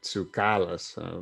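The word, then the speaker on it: Tsoukalas: yeah i think the the emphasis should be on the ka is where the accent would be if it was in greek but it would be like tsukalus but i don't know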